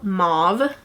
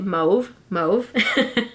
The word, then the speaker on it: mauve: perfect it's called metal mauve I remember I did a makeup tutorial where I pronounced it move move and it was so wrong so I'm just gonna